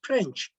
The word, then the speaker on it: pirinç: The rice the rice before cooking will be pirinç, pirinç, the right pronunciation to it, pirinç.